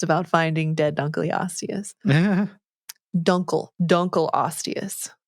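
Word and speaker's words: Dunkle: finding dead dun osus duncle duncle OAS it's very important we must say it correctly oh I said dunas didn't I yeah it's duncle it's named after a guy's last name duncle okay dun Aus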